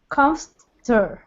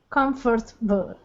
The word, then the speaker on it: comfortable: Comfortable. That's it. Comfortable. No, you're adding the 4. There's no 4. It's not comfortable. This is one of those words where we literally don't say a syllable.